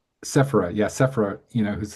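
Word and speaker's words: Sephera: I got um you know um Sephro Giron whose name I can never correctly pronounce, right? Sephra. Sephra.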